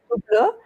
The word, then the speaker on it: Hublot: first of all, you do not pronounce the H, Hublot, and second of all, you do not buy an Hublot.